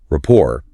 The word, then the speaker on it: rapport: Rapport, pronounced rapport, is really the ultimate goal of this initial phase of a conversation.